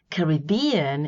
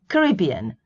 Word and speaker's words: Caribbean: Caribbean is British. Caribbean, mostly American, though British people use it too.